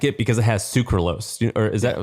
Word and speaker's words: sucralose: So I eat them, but a lot of people don't like it because it has sucralose. Or is that how you pronounce it?